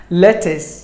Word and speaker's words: lettuce: cucumber were number 5 lettuce lettuce 2 syllables the stress falls on the first syllable lettuce lettuce lettuce word